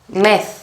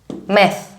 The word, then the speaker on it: ΜΕΘ: METH. METH. This is the pronunciation. METH.